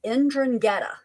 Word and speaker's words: 'Ndrangheta: They're called the 'Ndrangheta.